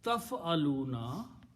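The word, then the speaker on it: تفعلون: So the word is pronounced as taf'aluna.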